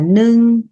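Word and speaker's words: ໜຶ່ງ: Số một tiếng Lào nói là nưng. Nưng là một.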